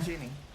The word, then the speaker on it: Ginny: You said Jenny, not Ginny.